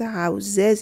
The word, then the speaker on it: houses: بچه ها houses, houses این چیزا رو نگینا. Houses باید بگین. زیز. S-E-S آخر کلمات زیز تلفظ میشه.